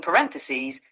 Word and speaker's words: parenthesis: clear R sound and in parenthesis emphasize the second syllable also plural can be